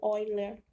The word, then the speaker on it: Euler: geometria plana é a mediana de Euler ou vai ler né como é que chama como chama e